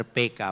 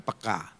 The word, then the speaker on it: peka: Ya, bahasa Indonesia yang benar PK bukan peka. Saudara, jadi bacanya harus gaya Batak, PK gitu.